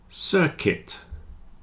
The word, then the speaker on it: circuit: business women business women biscuit circuit and build have a silent U you see the U